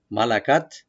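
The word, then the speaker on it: ملكت: যারা দাসী কিনে নিয়েছে, মালাকাত। তখনকার সময় এই রীতিগুলো ছিল। মা লা, মা ওপেন, লাম ওপেন, কাপটাকে ওপেন রাখবেন, আর তাটাকে আমরা একটু হামস করব, একটু হালকা হাওয়া যাবে, মালাকাত এভাবে বলবেন, মালাকাত।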